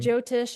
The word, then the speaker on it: Jyotish: Chinese medicine, but you also do is it Jyotish? Am I pronouncing it Yeah, right? you are. Yeah. Mhm. Jyotish astrology, which I had a session with you late last year, I believe.